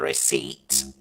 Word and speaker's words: receipt: that he kept the receipt what did you just say the receipt you you don't pronounce the P we are glad he kept the receipt better uh another question